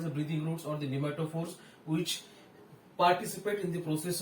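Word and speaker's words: pneumatophore: Okay, for respiration, and the type is respiratory roots or the nematophores. याला nematophore सुद्धा म्हणतात. It starts with the P. P is silent.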